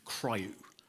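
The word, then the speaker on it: CRIU: in user space and in terms of trying to pronounce that as a single word you come up with cryou it's not a nice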